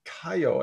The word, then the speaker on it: Kaiyo: It's the first edition Kaiyo, I believe it's pronounced whiskey.